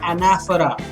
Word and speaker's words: anaphora: called anaphora remember I'm saying it this the pronunciation is anaphora and when a few lines end with the